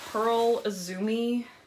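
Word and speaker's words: Pearl Izumi: remember getting here is a pearl Zoomy yeah that's how you say it Pearl Zoomy jacket it's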